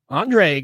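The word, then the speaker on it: André: people from all over andre garcia i hope i'm pronouncing that right it's not andres it's andre hello from spain hello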